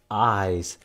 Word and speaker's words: Eyes: Eyes has the capital E in it. Sounds like it says I, the letter, but nope. It's spelled with an E. Okay, one of those tricky words.